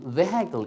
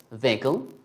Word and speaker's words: vehicle: to drop another vowel so it becomes vehicle it's not going to become vehicle it's going to become just vehicle two syllables and over here we